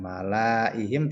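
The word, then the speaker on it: ملئهم: Tulisannya panjang malaihim tapi kita baca malaihim.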